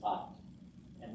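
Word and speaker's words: אתה: Yeah, Ata, accent on the last syllable, and at.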